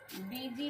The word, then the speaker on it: busy: ठीक है, बीजी में देखिए BU को बू नहीं पढ़ते, आप लोगों ने सीखा होगा काका की में BU से बू, BOO से बू।